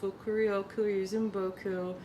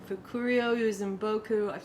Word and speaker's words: Fukurokuryuzinboku: It is Fukurokuryuzinboku. Fukurokuryuzinboku. I've heard it said a lot of different ways. Originally I started just saying it like how it's spelled, which is Fukurokuryuzinboku.